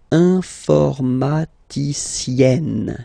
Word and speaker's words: informaticienne: carefully, then here, okay, you will have to double the N and then add this final E. Okay? And you get the sound informaticienne. Sienne. Remember E and then double N, or then it could be double L or double consonant here. You open your E, so it's E. Informaticienne.